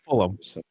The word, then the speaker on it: Fulham: Yeah, Fulham. Yeah. You don't say like West Ham, but Fulham. It's like Fullum.